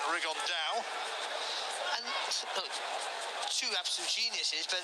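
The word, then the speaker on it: Rigondeaux: about fighting though or as he's correctly pronounced with the spanish accent rig on dao and two absent geniuses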